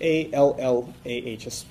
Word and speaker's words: Allah: we call him Allah his name is Allah that would be spelled in English a-l-l-a-h-s an emphasis on the L okay Allah and we don't